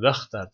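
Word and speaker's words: واختر: Ve ihtar seç yani vehtar da başındaki hemze ne? Hemze-i vasıl değildir. Hemze-i vasıldır pardon. Hemze-i vasıldır. Bu yüzden vehtar diye okunur.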